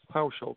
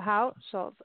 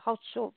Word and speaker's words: Hauschulz: It's just a How and a Schultz. Hauschulz. Oh, Hauschulz. Okay. I'm just used to, like, the T in there, like the Hauschulz, you know, but it's not.